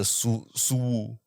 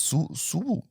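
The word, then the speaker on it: Xu Wu: Yeah, that is X is Shu.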